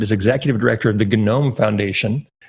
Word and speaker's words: GNOME: executive director of The Gnome Foundation yes there you do pronounce the G it's not silent and at open logic